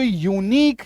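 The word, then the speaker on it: unique: एन आई क्यू यू यूनिक य में बड़ी उकार की मात्रा यू एन यू एन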